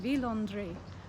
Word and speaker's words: Villandry: think of one thing it's pronounced villandre which um reminds me of me when i used to ask my sister if she did her laundry because they her nicknames